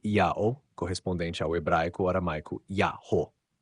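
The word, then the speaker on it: Ιαω: Em grego, ya tem duas sílabas e é pronunciado yao, correspondente ao hebraico aramaico Yaho.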